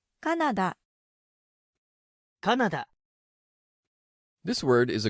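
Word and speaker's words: カナダ: Canada so we say Canada in Japanese it's Canada Canada this word is a great opportunity to point out the consistencies in Japanese pronunciation the English spelling has three A's c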